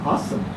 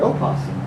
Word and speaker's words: opossum: Here is a possum, or an opossum, the correct pronunciation.